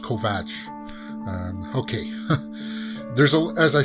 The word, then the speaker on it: Kovacs: say they pronounce they they're writing it kov a see but I it's pronounced Kovack okay there's a as